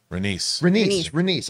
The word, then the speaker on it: Rhaenys: And by the way, I always mispronounce this. Is it Rhaenys? Rhaenys.